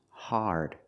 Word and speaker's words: hard: we don't say hard the word is pronounced hard it's an open Sound a a r connected to the r like when you say car and far hard this is also